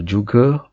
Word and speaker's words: juga: the malay translation and often you hear it pronounced as juga juga so juga or juga is how we say it and